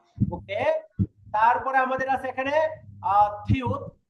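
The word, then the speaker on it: 티읕: ওকে, তারপরে আমাদের আছে এখানে থিউত। থিউতের উচ্চারণ একটা, উপরে থাকলে ত, থ, থ। থিউতের উচ্চারণ হবে থ, আর এটা নিচে যদি বসে তার এই উচ্চারণ ত, নিচে বসলে উচ্চারণ হবে ত।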